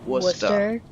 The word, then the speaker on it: Worcester: And even though the sign says Worcester, it's pronounced Worcester. Worcester?